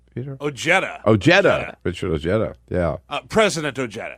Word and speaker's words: Ojeda: Is that pronounce his name, Peter? Ojeda.